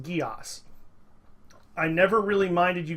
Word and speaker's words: Geass: he's also right by about the pronunciation it's pronounced Geass I never really minded you guys mispronouncing it